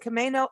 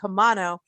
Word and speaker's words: Camano: She is from the Whidbey and Camano Islands in Washington State.